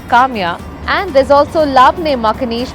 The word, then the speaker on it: Kamiya: Tamia, which is falafel, also rhymes with my name Kamiya.